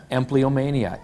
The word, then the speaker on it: empleomania: The correct spelling, and I hope I pronounce this correctly, empleomania, E-M-P-L-E-O-M-A-N-I-A.